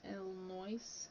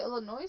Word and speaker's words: Illinois: texas kansas missouri and illinois a little noise do you say illinois or illinois the noise do you pronounce the s in this wow i've been saying it wrong uh i forgot this